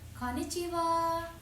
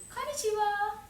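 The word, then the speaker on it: こんにちは: They say konnichiwa. Konnichiwa. That is konnichiwa. So, how do you spell it as?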